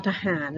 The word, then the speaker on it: ทหาร: ออก ทิ้ง อ่ะ ค่ะ เรา ต้อง อา ทอ ทะ หาน เลย นะ คะ จะ ไม่ ใช้ ทอทง เนาะ